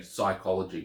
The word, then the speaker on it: psychology: start of a word unless the p is silent likey ology so psychology comes from a Greek word that has P at the beginning and because we can't say that sound at the beginning that P drops off and so we say psychology we just use the S rather than the PS um but words in